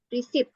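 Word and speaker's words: receipt: e terus resuspi oke tapi kalau misalnya resep dokter itu beda lagi cara bacanya resit ya Res sama kayak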